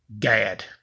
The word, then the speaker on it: Gad: I am the Son of Gad. That's G-A-D. The correct pronunciation, spelling is G-A-D.